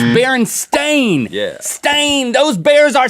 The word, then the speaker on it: Berenstain: on is over us how their name is spelled Berenstain it's not sting not staying I'm Berenstein don't make that much